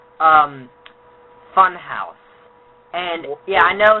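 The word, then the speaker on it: Funhaus: There's a YouTube channel called um Funhouse. And yeah, I know it's going to it sounds like it's pronounced f u n h a u s e. No, no, no. It takes out the e.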